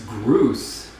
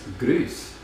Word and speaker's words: Grüß: Okay, so now Minnie is saying it's Groose. Huh. Like as in... No, but in German it's Grüß.